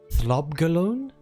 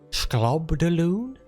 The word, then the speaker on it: Slobgollion: Files once twice Thrice let's discuss the rubbery Corpse's pronunciation thob galon schob Delon what is Mr McIntosh trying to say it sounds like sloban to me but somehow